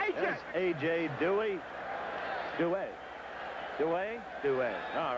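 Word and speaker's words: Duhe: He does want it pronounced Dewey, so we will go along with his wishes.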